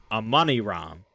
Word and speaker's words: Amani Ram: And so in the actual 001 video, I'll be pronouncing it Amani Ram. And it's very nice for an author to message me with correct pronunciation. Not that viewers would ever know or care in this instance, because it's not like a real word. But he said it's because the Foundation translated these tablets from English, whereas Blackwood translated from French.